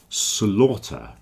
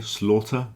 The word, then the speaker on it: slaughter: compound is Slaughter House Slaughter it rhymes with a daughter okay Slaughter daughter have the same pronunciation but not laughter you see laughter is